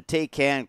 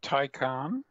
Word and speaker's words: Taycan: be talking about a really cool reveal from Porsche, the Taycan Cross Turismo, which is a really exciting-looking vehicle.